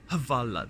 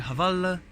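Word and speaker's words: Hvala: So I said the only Croatian word I know so far, which is Havala, that's it, Havala.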